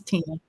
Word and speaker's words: Tina: the PO so that's thank you tenna for that um information it's Tina Tina oh I'm sorry thank